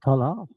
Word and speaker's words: Tolle: Tola, Tola, Tola. Oh, Tolle.